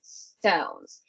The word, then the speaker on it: stones: Now stones is definitely a word that not only this word we have problem is that silent s at the beginning. All right, because in Spanish, again, we do not have words that start only with an s. We always put an e, right?